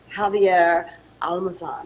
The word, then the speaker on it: Javier Almazan: So I'm going to bring in Javier Almazan.